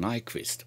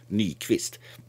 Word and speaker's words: Nyquist: pass filter right around Nyquist or should I say any twist because it was a Swedish guy so from the pronunciation should be knee twist anyway there's a low